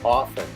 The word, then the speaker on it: often: The word is often. You never pronounce the T.